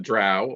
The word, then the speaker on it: Drow: Yeah, and I think and obviously Gygax did it with the Drow or the Dro, whichever way you prefer to pronounce it.